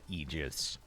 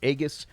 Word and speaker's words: Aegis: S-rank physical amplifier, Veronica Egis. And just as a quick aside, for the first 38 years or so of my existence on this rock, I actually pronounced that word as Aegus.